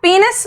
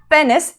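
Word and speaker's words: penis: इसके अलावा हम लोग पढ़ेंगे मेल एक्सटर्नल जेनिटेलिया, जिसको पीनस बोलते हैं। The correct pronunciation is नॉट पेनिस, it will be पीनस, ठीक है।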